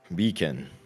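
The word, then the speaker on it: Bekan: He says, my name is Beacon. I'm from I love bacon. Yeah, how do you do spell that? B-A-C-O-N. B-E-K-A-N. So it's bacon with K.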